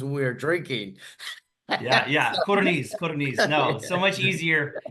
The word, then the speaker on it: Codorniz: Codorniz. No, so much easier. It's not pronounced the way it's spelled. So it's just easier phonetically. Codorniz is fine.